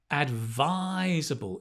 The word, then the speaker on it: advisable: If you remember my pronunciation video last Saturday, word stress, which syllable? Advisable. Advisable. It's the second.